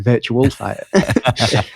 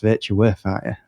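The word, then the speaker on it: Virtua Fighter: this V I was gonna say it again virtual fighter and he just went you know it's pronounced virtu fighter I was like but everyone says virtual it's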